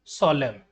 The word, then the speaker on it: solemn: In the words given below, the letter N is silent when it appears with M at the end of the word. Hymn, column, autumn, solemn.